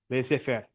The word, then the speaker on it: laissez-faire: Laissez-faire. Yeah, it means let it be, let it alone, right? Laissez-faire. Thank you. I appreciate it. Your pronunciation is spectacular.